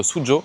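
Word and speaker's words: Suzhou: Dans la prochaine vidéo, on va aller à Suzu, ça se prononce Sujo.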